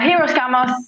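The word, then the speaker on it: hieros: i are we even saying it right yeah heroes yeah definitely right uh so i'll explain hiroshima's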